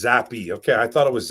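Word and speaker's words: Zappe: Pronounced Zappy.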